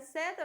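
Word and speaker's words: said: Y el último dice, set rhymes with bed. Dice que el verbo de say en pasado, que set, rima con bed.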